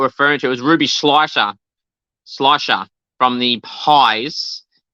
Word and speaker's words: Schleicher: Mackenzie pronounced it well, and I know there's a lot of people that do struggle with pronunciations of Ruby Schleicher. So it's a tick to Mackenzie for getting it right.